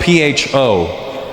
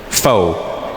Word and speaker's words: pho: It's spelled P-H-O. Pho. But it's not the way it's pronounced. And in America, people are annoying because I'll be like, yeah, let's go get some pho.